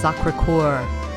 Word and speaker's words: Sacré-Cœur: It's Sacré-Cœur.